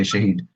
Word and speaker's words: Shahid: much uh yeah you're saying my name correctly Shahid um yeah so we we've been focusing on